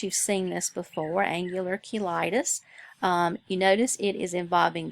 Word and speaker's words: cheilitis: Some people pronounce it cheilitis. But either way you want to pronounce it, I think would be acceptable, but I'm going to use cheilitis since I believe that's the way it's used in your book.